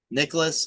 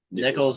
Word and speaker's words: Nichols: Nicholas? Is it Nichols or Nicholas? Nichols. Nichols. Okay, yeah, but like really, his second half performance that was kind of electric stuff, man.